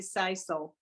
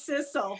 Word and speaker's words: sisal: so and you taught me how to say sisal didn't know that i didn't know i thought it was sizzle but i didn't know is that english pronunciation